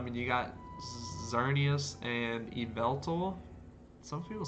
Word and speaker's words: Yveltal: But, I guess Y just makes different kinds of pronunciations. Anyways, that's not the point. It's Yveltal.